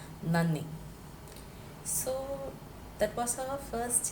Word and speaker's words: നന്ദി: That is not nanni, that is not nanny. I have used the double N to show that difference in that pronouncing na, na. It is na and the same na repeated. So na, ni, nanni. In Tamil, you tell nandri. Very closely related. In Malayalam, it is nanni.